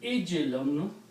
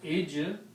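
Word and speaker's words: عجل: But when you pronounce this thing with ijlun, sound of kasra, ijlun.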